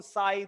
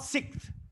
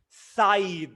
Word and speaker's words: scythe: hands and i will sweat no more on side than break my bloody hands and i there's